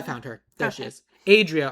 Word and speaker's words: Adria: Adria Arjona, not Adriana.